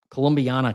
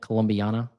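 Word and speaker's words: Columbiana: Colombana County, is that how you say it? Colombiana.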